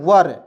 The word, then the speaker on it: were: ठीक है, यहाँ पे देखिए WERE, वर। देखिए डब्ल्यू का उच्चारण वा के रूप में, आर से लिखेंगे तो वर। वर मीन्स होता है दोस्तों थे, वेयर नहीं पढ़ेंगे, इसे वर पढ़ते हैं।